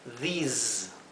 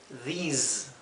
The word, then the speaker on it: these: Estas que están donde la S viene seguida por una vocal, la S se pronuncia como un zumbido, z, z, mientras que esta se pronuncia s, más como un silbido, como la S española.